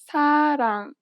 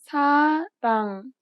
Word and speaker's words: 사랑: This letter is often represented as an R or an L, but you do not pronounce it this way. In fact, there is no equivalent sound in English for it. Listen to a word that uses this letter. 사랑, 사랑, It sounds closer to an L than an R in English.